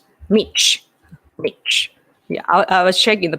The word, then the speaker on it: Mitch: What do you guys think of Michi McConnell? I don't know that. I have to pronounce Michi. Yeah, Mitch.